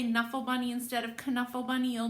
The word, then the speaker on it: Knuffle: by mo willems now the k can either be c or it can be silent when i talked to the author he said he likes to call um this caneful bunny but often the k